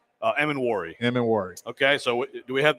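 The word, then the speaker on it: Emmanwori: Emin-Wari.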